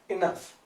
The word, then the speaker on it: enough: तो इन जगहों पर जहां आप काफी वर्ड यूज करते हैं, वहां पर अंग्रेजी में आप यूज करेंगे इनफ। इनफ, इनफ की स्पेलिंग होती है ENOUGH, इनफ।